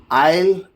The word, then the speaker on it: isle: The letter S is not pronounced before L in the following words. And then here, isle, island, isle and islet.